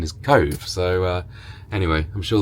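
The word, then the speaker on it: Cobh: a place called Cove but everybody says it's cob but we just Googled online and they say it's called the pronunciation is Cove so uh anyway I'm sure they'll tell us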